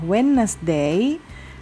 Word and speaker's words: Wednesday: Selasa Tuesday kemudian Rabu Wednesday ya ini tidak dibaca day-nya ya Wednesday dan ini jangan baca Day jangan baca Monday ya